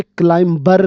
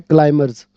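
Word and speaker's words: climbers: अब यहाँ पे क्लाइंबर नहीं बोलते, बी साइलेंट है, क्लाइमर्स.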